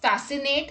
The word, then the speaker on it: fascinate: C is not pronounced in the combination SC. Let's look at the examples. Muscle, scissors, ascent, miscellaneous, fascinate, scenario.